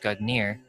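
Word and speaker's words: Gungnir: Nordic, Gugnir, Old Norse Gugnir swaying, pronounced Gugnir, is the name of the mighty spear that belongs to the old god Odin.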